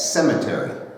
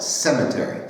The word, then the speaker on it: cemetery: It's cemetery. You know, that's the problem. We said cementerio with N. I see. There's no N there. There's no N. Cemetery.